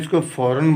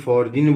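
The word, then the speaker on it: foreign: बेटा मैं इसको फॉरेन बोलता हूँ, कोई फॉरजिन बोलता है।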